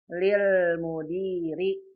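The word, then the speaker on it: لِلْمُدِيرِ: Kalau al-mudir ada alifnya, kalau lil mudir lamnya didouble. Dibacanya lil mudiri begitu.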